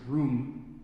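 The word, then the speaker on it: RUME: Undergraduate Mathematics Education Group, which is pronounced ROOM because that is way too many syllables.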